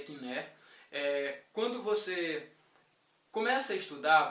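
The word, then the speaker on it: κοινή: a pronúncia do grego koiné, como alguns chamam, que na verdade é kiné.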